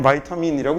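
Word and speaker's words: vitamin: 영어로 읽을 때는 바이타민이라고 읽는 거고요.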